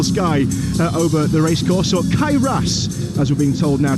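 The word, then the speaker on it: Cae Ras: There's a beautiful sky over the racecourse, or Kairas as we're being told now to pronounce it in its Welsh name.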